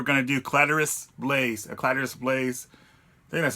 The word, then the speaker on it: Caladrius Blaze: and today we're gonna do clitoris lace a clatters place that's how you pronounce it bad call at giris place whatever